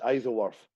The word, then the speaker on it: Isleworth: It's pronounced Isleworth.